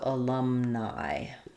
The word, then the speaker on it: alumni: So alumni, like in night. Alumni. Yeah, so there isn't really a y sound in alumni.